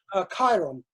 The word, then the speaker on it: Chiron: Chiron.